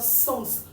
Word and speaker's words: sens: la prononciation parce que celui-ci écrit avec e là on va le lire sens on va lire le S final ce qui n'est pas